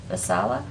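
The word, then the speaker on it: Vaisala: i have a an agreement with help me pronounce this v-a-i-s-a-l-a masala incorporated for the seneca county airport awos maintenance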